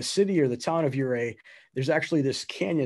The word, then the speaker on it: Ouray: Is that how you pronounce it? Yeah, Ouray.